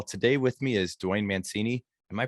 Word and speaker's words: Mancini: Like when we went to Italy, everyone said Mancini, which is how you'd pronounce it. But at this point, we've been in America long enough. It's been Americanized. Yeah.